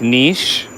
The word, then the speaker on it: niche: Oh yeah, and make sure you say niche, niche, niche, because it's a French word. Because people, they always say niche, and it really just like boils my blood, because that's not how you say it.